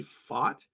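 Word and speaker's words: Pfaadt: guys like like Brandon fat which I I'm assuming that's how you pronounce his name how do you pronounce is it fate he fat fat it's it's I'm pretty sure it's actually fought um but we call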